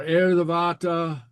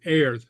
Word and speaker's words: air: The pronunciation of the IR here. Maybe you can hear it better uh when I say air. But can you hear that little tongue tap there?